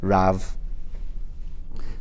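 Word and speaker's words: ריב: So therefore, it's read riv, but it also can be read as rav.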